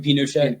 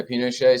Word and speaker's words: Pinochet: Pinochet. Yeah, Pinochet.